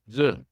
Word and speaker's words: œufs: 3 œufs. 3 je 3 œufs. It's like looks like Œuf is 1, but it changes to au so pluriel.